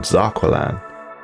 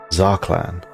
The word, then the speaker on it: Zarqlan: still incredibly relevant spiritualistic Fallen Empire Prophet called zakan which is according to brand new information actually pronounced zaklan we have several new insights into this character